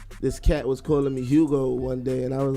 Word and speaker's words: Jugo: it's Hugo. Okay, so it's Hugo Boss, but it's spelled with a J.